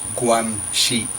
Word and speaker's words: guanxi: I am strongly suspicious that some string-pulling, guanxi, pronounced guanxi, went on behind the scenes.